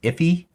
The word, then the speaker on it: IIFE: Sometimes I think it's pronounced iffy.